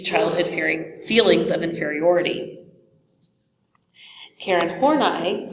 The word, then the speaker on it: Horney: Two really important figures in this group were Alfred Adler and Karen Horney. That is how her last name is actually pronounced.